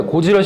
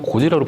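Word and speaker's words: ゴジラ: 이게 지금 개봉명은 신 고질라인데 저는 그냥 고지라로 발음하겠습니다. 일본 발음은 고지라가 맞습니다.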